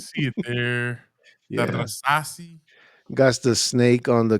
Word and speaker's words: Rasasi: other than Rasasi. Do I got to roll my R's when I Yeah, say you got to roll your R's.